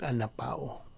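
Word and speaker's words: ἀναπαύω: okay a n a p a u o pronounce ka na an Pao now tungod kay kong verbo verb anan sa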